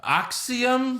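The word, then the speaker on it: Axiom: up we have uh dragon Lee versus uh axium ax aium NXT oh that's how you pronounce it Eric axium oh okay you [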